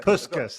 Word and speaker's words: Puskás: Puskás, that's it.